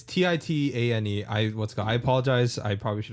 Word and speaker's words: Titane: Is it Titan? It's Titane. I apologize. I probably should have researched on how to pronounce it before.